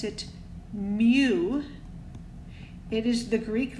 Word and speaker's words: mu: going to be this symbol and this we pronounce it mu it is the Greek letter M lowercase M